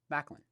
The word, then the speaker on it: Maklin: put together to form Macklin yeah so you get the m and the Lin Macklin so that's where it comes from so um anyway that's how you pronounce Macklin we've had a few